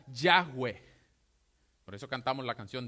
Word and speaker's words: Yahweh: y lo llevaron a YHWH con la A y la E intercalada y se pronuncia Yahweh.